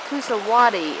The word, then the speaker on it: Coosawatee: the cusati river um cusati is how some people pronounce it uh we're going through